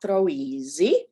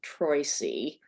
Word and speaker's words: Troisi: She married a man named Beniamino Troisi, which they pronounced Troisi in the US.